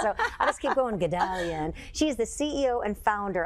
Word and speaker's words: Guldalian: So I'll just keep going, Guldalian.